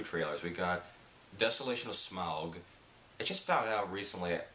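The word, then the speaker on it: Smaug: that I was in we pronounced sm's name incorrectly we always called him smog so apparently it's Smog and that looks not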